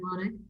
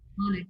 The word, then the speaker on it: Wanek: Did I pronounce it right, Echo? Wanek, yeah.